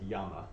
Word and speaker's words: llama: let you know uh lama is still llama in spanish he just pronounced it yama but l-l-a-m-e what what